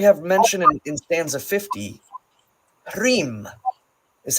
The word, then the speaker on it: Hrym: Here we have mentioned in stanza 50, Hrym is how it's pronounced.